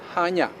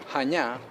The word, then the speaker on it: Chania: sealed spelled with i c-h-a-n-i-a so it makes perfect sense that you say chania which simply confuses everyone the c is silent and the proper way to say the word is hanya hanya has a remarkable 5